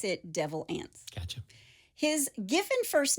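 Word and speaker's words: Devil Anse: by one of his direct descendants it is pronounced devil ants like a n TS it's spelled a NS E I thought that's what you said it first devil ants but they do pronounce it devil ants gotcha his given first name was Anderson so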